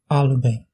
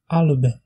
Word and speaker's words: Alban: Alban. Écosse. Alban. Vous pouvez voir que la prononciation de la voyelle A est très proche du français.